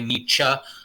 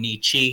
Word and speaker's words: Nietzsche: repeatedly tell me that i should say nietzsche rather than nichi so that's what i've